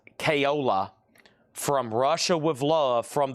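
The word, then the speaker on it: Caiola: Al, I believe that's pronounced Kayola from Russia with Love from the James Bond movie.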